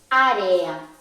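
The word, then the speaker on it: área: Por ejemplo, si digo area, area, la E y la A últimas están juntas, pero lo pronunciamos separados, o sea, están en dos sílabas diferentes.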